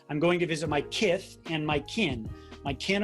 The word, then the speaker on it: Kith: Thanks so much for, and by the way, Kith is spelled K-I-T-H. It's not Mike Tyson saying Kith. It's kind of like Mike Tyson saying kiss.